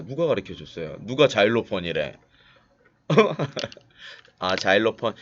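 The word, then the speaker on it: xylophone: 실로폰 하면 알까요? 예, 실로폰을 우리나라에서 읽는 거고, 실로폰이라고 읽으면은 지금 재성 씨가 자일로폰이라고 그런 거를 못 알아듣듯이 실로폰이라고 그러면은 못 알아들어요. 우리나라 악기가 아니잖아요. 서양 악기이기 때문에 정확한 발음 자일로폰이라고 얘기를 해줘야 돼요.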